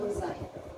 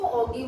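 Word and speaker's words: ogive: कई बच्चे इसको ऑगी वॉगी करते रहते हैं, है ना, ऑगी या वो वाला ऑगी थोड़ी, जो तुम्हारा कार्टून्स में आता है, इसकी सही प्रोनाउंसिएशन जो है वो ओजाइल है।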